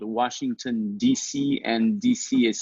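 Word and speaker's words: D'ici: a podcast in french called washington dc and dc is spelled d apostrophe ici which means from here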